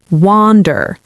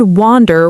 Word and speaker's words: wander: Wander. Like the word wander rhymes roughly with ponder or onder.